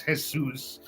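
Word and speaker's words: Jesús: not when they say they're not saying Jesus they're saying Jesus all right um it's spelled the same way my name is hesus it's a very common name in Mexican culture um it's a Biblical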